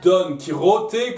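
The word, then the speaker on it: Don Quijote: wait distincts numéro 3 don quichotte ou d'hommes quijote comme les puristes voulait que je le prononce tant pis pour eux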